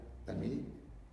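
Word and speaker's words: תלמידים: Ahora, hay una palabra en hebreo que es talmidim, bueno, así se pronuncia, se escribe pues con pictografía hebraica, pero se pronuncia talmidim, discípulo.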